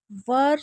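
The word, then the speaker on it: were: ऐज़ द आंसर his question वर। सो मैंने बोला इसे वी वेयर नहीं पढ़ना है वर पढ़ना है।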